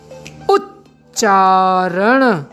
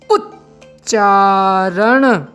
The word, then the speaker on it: उच्चारण: उच्चारण उच्चारण यहां पर एक अक्षर है वह साइलेंट है यानी गुप्त है। स्पष्ट रूप से शब्द में नहीं आ रहा है।